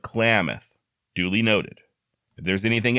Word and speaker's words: Klamath: I'm told I've been pronouncing Klamath wrong it's not claimeth but Klamath duly noted if there's